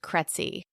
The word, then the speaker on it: Krejci: It is spelled Krejci, and it's pronounced Kretzy. I realize not a lot of people know how to say that, but it rhymes with Betsy, and that's always helpful to tell people.